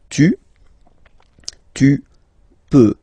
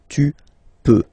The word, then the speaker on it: peux: Okay, then tu peux. Same pronunciation and same spelling or writing. Okay, P-E-U-X. Okay, you don't pronounce the final X. Tu peux.